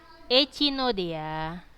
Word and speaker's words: Echinoidea: Kelas yang ketiga adalah kelas Echinodea. Kalau kalian kuliah nggak gitu bacanya ya. Echinoidea. Nah, gitu tulisannya, tapi kalau bacanya Echinode.